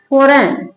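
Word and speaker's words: foreign: आई जी एन क्या पढ़ेंगे full क्या लिखेंगे फॉरेन क्या पढ़ेंगे इसको? दो रूल है जब जी साइलेंट रहता है।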